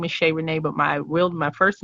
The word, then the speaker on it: Shayrenee: So my performing name is Shayrenee, but my first name is Shahara, and a lot of people Shahara, and a lot of people mispronounce it.